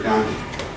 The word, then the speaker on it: Gandhi: Also, how do you spell Gandhi? Gandhi? Who knows how to spell it? Go ahead. G-A-N. Oh, no, wait. No, one N, and then it's D-I. D-H-I. There's an H in there, a silent H.